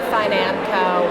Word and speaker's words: Financo: Well, everyone pronounces it differently, but I say Financo.